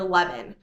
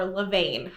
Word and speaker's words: levain: That is making your leaven. or levain. There's, I think, different ways to pronounce it.